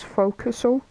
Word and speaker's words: forecastle: It's spelled as forecastle, but it's pronounced as forecastle.